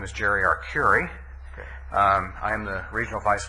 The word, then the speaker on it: Arcuri: My name is Jerry Arcuri.